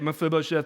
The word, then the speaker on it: Mephibosheth: So last week, we spent some time talking about a guy named Mephibosheth. If you're still trying to figure out how to say it, Mephibosheth, Mephibosheth, Mephibosheth.